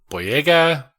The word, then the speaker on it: Boyega: so we also have Finn played by John boyega I don't know if I'm ever pronouncing his name right that is that is